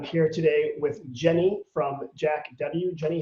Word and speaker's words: JAK W: of the store is jack w so it's jack without a c and the name jack